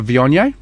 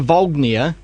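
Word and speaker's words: Viognier: week we'll do um a vianya um from the the same guys not a vognia yeah i know people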